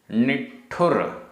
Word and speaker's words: निठुर: निठुर, निठुर आधा टा ठा, निठुर।